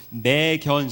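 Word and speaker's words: McKenzie: 속도를 좀 내보겠습니다 아 맥켄지 선교사님 있데 한국 사람들이 그 맥켄지 발음이 안 되죠 그래서 매견 이렇게 발음이 된답니다 아 특별히 여기 반투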